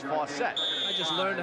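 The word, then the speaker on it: Faucette: apologize to chuck because we've been pronouncing his name fawcett all year long that's what we thought it was supposed to be but now we're told it's fossett i just learned how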